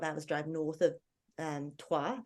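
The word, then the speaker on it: Troyes: drive north of um twah this which is spelled Troys um it's um they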